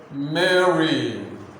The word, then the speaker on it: Mary: Mary, Mary, pronounce it, let me hear you. Mary, Mary, Mary, Mary, Mary. Of course, make the A sound, then read short E sound, Mary.